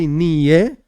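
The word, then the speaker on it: נהיה: And then there's another blessing, Shehakoil nio bidvarei. There are different ways of pronouncing this. Some say niye, but we in Chabad say nio.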